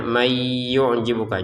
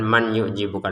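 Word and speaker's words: مَنْ يُعْجِبُكَ: Wa minan nas di sini nun bertasydid kita dengungkan, kemudian may yu'jibuka, nun yang di sini ya kita masukkan ke ya, sehingga cara bacanya may yu'jibuka, jangan man yu'jibuka lagi.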